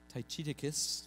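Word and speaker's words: Tychicus: round table first is ty chicas is how we pronounce it I imagine if you go a little more true to to to the Latin or the Roman it would be more like tight Atticus Tai Chi dickus something like that anyway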